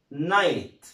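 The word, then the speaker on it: night: طيب ها ان اي جي اتش تي برضه جي اتش ها مش هيتنطق، يبقى اسمها نايت، اسمها ايه؟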